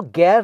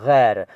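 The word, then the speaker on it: ग़ैर: तो गैर को गैर न कहा करें, गैर न लिखा करें, ये है गैर।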